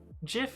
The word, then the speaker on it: GIF: whatever it's called uh it's jif as in graphical why would you say that angeline x i didn't know you pronounced gif wrong this is like pretty